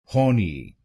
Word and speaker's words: horny: इसकी सही प्रोनंसिएशन है होनी। होनी इस शब्द में दो शब्दांश है। होनी होनी तो बनेगा होनी। होनी और इस शब्द में आपको पहले शब्दांश पर जोर डालना है।